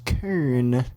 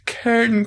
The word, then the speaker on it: Kern: Oh, it's pronounced Karn. Oh, it's Kern County.